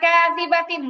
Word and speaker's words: كاذبة: তারপরে কাযিবাতিন বাতে টান নাই, কাযিবা এরকম বলা যাবে না।